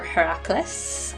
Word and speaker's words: Heracles: of hercules and her hercules are heracles i believe that's how it's pronounced but i'll go with hercules because i'm much more familiar with that pronunciation so uh olip was